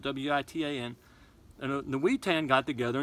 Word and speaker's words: Witan: When a king died, there was something called the Witan. I think that's the right way to pronounce it. It's spelled W-I-T-A-N.